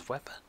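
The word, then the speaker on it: Łepa: Captain is Wepa, Thomas Wepa. Usually in Polish, it's pronounced as a V, so Wepa.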